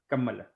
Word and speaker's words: Kamala: It's actually pronounced Kamala.